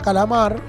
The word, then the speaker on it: calamar: en sílaba c laar dónde suena fuerte en la sílaba o el fonema mar Ese mar sería la sílaba tónica la atona sería las